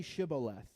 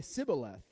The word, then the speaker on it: Shibboleth: If he said no, then they would say to him, Then say Shibboleth. And he would say Sibboleth, for he could not pronounce it right.